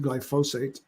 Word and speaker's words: glyphosate: The other common source of this is another antibiotic known as glyphosate. Some people pronounce it glyphosate.